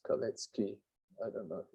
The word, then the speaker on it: Kalecki: It's usually pronounced as Kalecki.